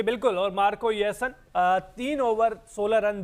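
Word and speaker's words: Jansen: Marco ये येसन की Marco spelling आप जरूर जे से स्टार्ट हो रही है लेकिन जे साइलेंट है वो य सन है तो शानदार प्रदर्शन नाम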